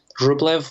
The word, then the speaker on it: Rublev: in america there's a fantastic brand called roblev rublev was the name of of an icon painter from russia it's spelled r-u-b-l-e-v rublev and it's a fantastic brand